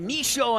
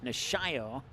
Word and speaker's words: Nishio: pass intended for udoo when I got to say it quickly I say it wrong and when I stop to look at the roster I say it right nishio so corner kick here